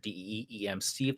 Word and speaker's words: DM Steve: You can also follow me on Twitter at DEEM Steve. That's DM Steve phonetically.